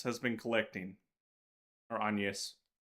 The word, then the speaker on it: Agnes: is the Genesis that Agnes has been collecting, or Agnes. They changed the pronunciation between games. Agnes is the way it would be pronounced in Italian or modern ecclesiastical Latin.